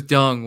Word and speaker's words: Deng: I'm sorry dung Xiaoping it's not dang it's supposed to be pronounced dung but yeah that's uh